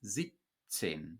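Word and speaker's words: siebzehn: And 17 becomes 17, 17. This B becomes a P, as do all voiced consonants at the end of a syllable in German.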